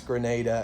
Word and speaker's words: Grenada: I saw at least one other location in what I think is pronounced Grenada, Mississippi, or maybe Grenada, but I believe it's Grenada as in the country.